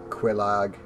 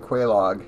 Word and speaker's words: Quelaag: now we've run the second Bell of awakening quelaag god I just love that dragon head there well it's pronounced way by a log for that Quelaag Quelaag yeah but I was like that in-game